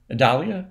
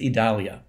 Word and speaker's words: Idalia: one's pronounced yet uh Dahlia Adalia I think I think it's idalia there we go idalia that sounds right so it's tropical storm